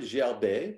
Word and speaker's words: gerber: this in france well the word gel bay which is g-e-r-b-e-r spelled and pronounced spelled the same way it means baby